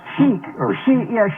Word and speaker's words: chic: I mean, the way it's spelled, it looks like chick, but it's Zoomer Radio, 740, Toronto, Ontario, 460 miles northeast.